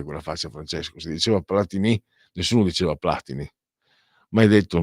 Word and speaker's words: Platini: Platini o Platinì? Si diceva Platinì alla francese, anche se il cognome era italiano. Tra l'altro entrambi di origine piemontese. Cosa fai quella faccia, Francesco? Si diceva platinì nessuno diceva platini.